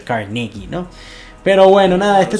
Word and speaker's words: Carnegie: Justamente Andrew Carnegie, que mucha gente le dice Carnegie, pero él al haber nacido en Escocia y considerarse escocés americano, realmente su pronunciación tiene que ser Carnegie, ¿no?